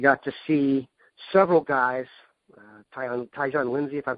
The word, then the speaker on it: Tyjon: You hit it correctly on Tyjon. That's how you say his name.